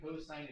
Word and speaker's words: cosine: Do not refer to them as sin, cost, and tan. You sound like an idiot. Okay? Sine, cosine, and tangent is how we call those.